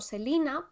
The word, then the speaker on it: Celaena: bueno yo la llamo celaena tú dices Celina Yo es que mir revista de ella y lo pronuncia como Selina pero esa I es como una e entonces dice como Selina Selina Vale pues con